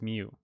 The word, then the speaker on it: mu: And it has the pronunciation of it as mu, M-E-W, but it's actually written as mu in for the Greek letter.